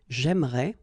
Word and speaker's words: aimerais: But then it's exactly the same thing, because even if you get this here and here, you don't pronounce it. So it will go like j'aimerais, or then j'aimerais. Remember, phonetically, they are the same, okay? J'aimerais, j'aimerais.